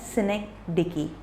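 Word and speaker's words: synecdoche: तो सिमिली के बाद सिनेक्डिकी, इसकी प्रोनाउंसिएशन हमेशा रॉन्ग हो जाती है, लोग हमेशा रॉन्ग ही बोलते हैं इसको, पर इसकी प्रोनाउंसिएशन है सिनेक्डिकी, ओके।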